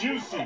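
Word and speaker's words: Jussie: And then along the way, they'd be like, oh, Jesse Smollett. Oh, no, that was wrong, too. Juicy. It's pronounced juicy.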